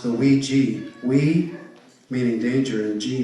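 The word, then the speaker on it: 危机: It's pronounced the Wei Ji. Wei meaning danger and Ji meaning opportunity. Wei Ji.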